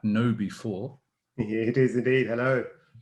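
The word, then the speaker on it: KnowBe4: awareness advocate and i'm i'm reliably informed it's pronounced at know before yeah it is indeed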